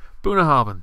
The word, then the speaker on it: Bunnahabhain: Bunnahabhain? Bunnahabhain, yes.